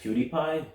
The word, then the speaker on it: PewDiePie: least create a rise whew sigh it's actually pronounced PewDiePie pewdie iPods it sounds stupid you can fix